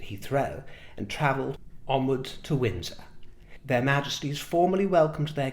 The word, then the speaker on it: Windsor: And I should mention here that I hear it pronounced a lot as Windsor by Americans, which I love, by the way. I appreciate and enjoy the difference in the pronunciation. But just for those of you who are curious abroad and want to say it the way that we say it in our English tongue, it's Windsor. Windsor.